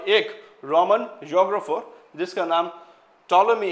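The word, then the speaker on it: Ptolemy: ये जो पी है ना ये पी ये पी साइलेंट है। तो इसका प्रोनाउंस करते वक्त टॉलमी बोलते हैं हमको।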